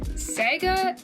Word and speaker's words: saiga: this antelope, and this antelope is called a saiga antelope, I believe. Hold on, how do you pronounce that?